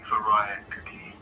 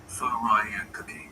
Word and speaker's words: furikake: Sure, I'd say Furikake. Phonetically, like Furikake, with a stress on the second syllable. Faraya cookie? Yeah, exactly. Furikake.